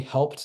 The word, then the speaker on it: Helpt: We pronounce the company Helpt, not Helpt, but it is, Get Helpt.